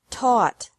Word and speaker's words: taught: past and past participle this can be spelled o u ght or a u ght but the pronunciation is the same bring brought brought bu bought bought catch caught caught fight fought fought seek sought sought teach taught taught think thought thought remember that the g is silent in these verbs verbs with three different